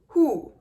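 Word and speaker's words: הוא: teach in Hebrew, like he is actually pronounced hu. Now the reason this is difficult is because the way that you pronounce she is he. So he equals hu, and she equals he.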